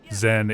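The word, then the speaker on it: Xen: Zen is spelled X EN cuz aliens are hip and cool.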